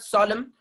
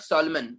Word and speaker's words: solemn: So that's what solemn, solemn, solemn, not Solomon.